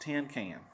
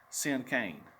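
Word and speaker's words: cinquain: have heard me quickly this word is pronounced like the word sin and cane sin cane they crossed her arms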